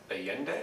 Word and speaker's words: Allende: So let's move on to Allende, is that the pronunciation?